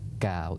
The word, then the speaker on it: Cao: um first of all my last name is pronounced gal it's spelled c AO but it's pronounced like g w so gal gal gal